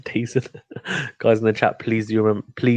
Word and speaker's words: DAZN: Yeah, I saw there's several articles about how do you pronounce DAZN? It's Well, the I mean, zone. Just the zone, yeah. Guys in DAZN the or chat as DAZN. well. Yeah, just say decent.